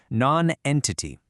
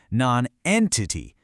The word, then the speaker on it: nonentity: Nonentity has exactly 4 syllables, with the emphasis hitting hard right on the second one, nonentity.